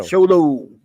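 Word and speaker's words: Xolo: How do you say it? Sholo? Just like, the show must go on. Show. Sholo. Okay.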